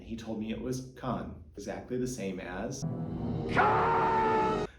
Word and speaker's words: Caen: So I asked this helpful shopkeeper, and he told me it was Caen, exactly the same as Caen!